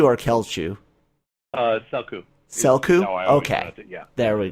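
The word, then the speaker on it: Celchu: Is it Selchu or Kelchu? Selku. Selku? Okay. Yeah. There we go. I was really close because I would say Selchu.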